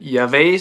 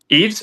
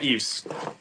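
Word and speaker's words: Yves: Um, is it Yave St. Laurent? How do you How do you pronounce that? Eaves. Eves. Oh, yeah. Eves.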